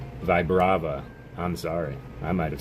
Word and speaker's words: Vibrava: Vibravia, yes. Vibrava.